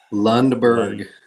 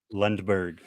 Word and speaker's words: Lundberg: Lundberg. Lundberg. I'm not of a German descent. I'm going to say that's like German or Swedish, potentially. I think. Yeah. So I'm not there. I'm sorry. Lundberg.